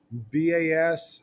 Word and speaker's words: bas: to write that down Bas is pronounced ba it's pronounced like bah humbug foreign High Relief comes